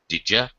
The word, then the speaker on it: did you: it's very very common Addie sound plus you is gonna sound like this Jeff it's sort of halfway between a Y and a jay sound Jeff sound didja with Jeff would you